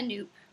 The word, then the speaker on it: nupp: you've never done a noop it's about nupp and yes it is pronounced noop like soup and i haven't touched